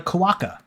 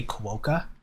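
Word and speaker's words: quokka: are and let's move on uh to the koaka um apparently that's how it's pronounced i did i have no idea what this is if i see the word i i say kuoka but apparently that's like a north american thing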